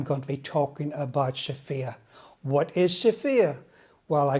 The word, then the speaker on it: SFIA: Sigma Omicron v I order alpha but the Sofia are we talking about today is spelt s f IA and this severe is